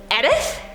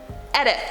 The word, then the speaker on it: Edith: Eric Neiman commented, "Edith is not pronounced with a hard E at the beginning, but with a soft eh at the beginning." Edith? No, I've never heard somebody with Edith.